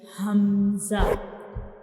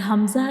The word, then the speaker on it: Hamza: Hamza is pronounced from the bottom part of the throat.